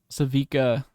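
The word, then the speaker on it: Sevika: What did you think of Savika? Is that how you say it? It's right, right, Yes, Savika.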